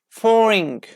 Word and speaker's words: foreign: continue with silent G the letter G is not pronounced is not pronounced when it is followed by n at the end of a syllable for example foreign foreign like foreign teacher yes I am a foreign teacher with this we don't pronounce like ah say J like foreign foreign sign sign designed a